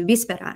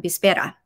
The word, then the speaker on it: víspera: who know Spanish, right, the accent or the word stress should come on the second to the last syllable if it's if the word ends in a vowel. So you have to put the accent here to know it's actually víspera and not víspera.